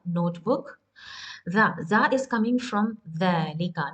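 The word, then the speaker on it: ذلك: Za is coming from dhalika. Now we don't write with alif, but there is a small saghira here, alif saghira, and we pronounce it dhalik.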